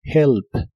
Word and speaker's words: help: help que significa ayudar la H de esta palabra se pronuncia como una J suave lo cual es muy común en inglés help help y usarás el